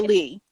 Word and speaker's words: Lei: have questions for Lee, let me know. I have a feeling that I'm saying Lee wrong. It's Leah. It's No, Lea. right, Lee. It's Lee.